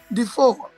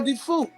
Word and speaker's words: DeFour: His name is Mr. DeFour, or DeFour. The R is silent, and we will know this evening what's up with the R for Mr.